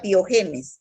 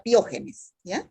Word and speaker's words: pyogenes: experimentos streptococo pyógenes son no diga pyogenes diga pyogenes acento en la genes